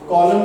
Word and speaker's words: coelom: Body cavity की अगर बात की जाए तो बॉडी कैविटी को हम कॉलम के नाम से भी जानते हैं, बॉडी कैविटी को हम कॉलम के नाम से भी जानते हैं।